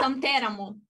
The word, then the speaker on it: Santeramo: Oh, you see, the accent is wrong. No? It's Santeramo. Ah, Santeramo, okay. But it's a common, I mean, also in Italians are pronouncing it with accent on another, so don't worry.